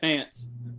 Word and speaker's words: Fance: Did I pronounce it right? Is it Fance? Yeah, Fance.